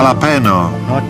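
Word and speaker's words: jalapeño: chipsy HP No dobra lapeno jaki to smak ten sam tylko Źle wymawiasz J się czyta jak ha ha lapeno niedziela Pino że niby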